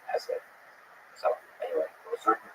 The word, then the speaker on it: Hesse: It was written by Hermann Hesse, and by the way, please allow me this pronunciation of his last name. I've heard some people say Hesse, but my whole life I've always said Hesse.